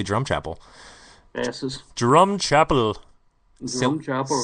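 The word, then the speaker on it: Drumchapel: Once again, people think it's funny how we say drum chapel.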